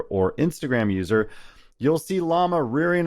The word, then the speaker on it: Llama: All right, the AI wars have heated up with Zuckerberg's Llama 3, released April 18th, 2024. Yes, it's spelled and pronounced like the animal llama, and released as open source, which is exciting and interesting on its own.